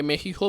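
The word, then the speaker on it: México: রসিকতা করে তিনি মেক্সিকোকে মেহিহো বলেছেন। সেদেশের প্রেসিডেন্ট নাকি মেক্সিকোর নাম মেহিহ উচ্চারণ করেন।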